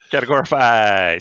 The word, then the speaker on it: Categorify: So the first site I usually go to is called Categorify, spelled like it sounds. Say that three times fast. Categorify.